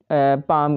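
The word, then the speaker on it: palm: अगला है हमारे पास पाम का तो देखें इसमें देख इन में और इनम एल साइलेंट है तो हमने नहीं लिखना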